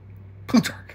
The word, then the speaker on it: Plutarch: Plutarch.